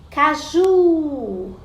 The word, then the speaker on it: caju: Caju, caju. Então, o ju é a sílaba tônica, é a sílaba mais forte.